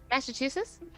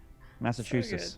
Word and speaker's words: Massachusetts: Well, how's that state pronounced again, Livy? Massa what? Sorry. Massachusetts. That's the one. Yeah. Massachusetts.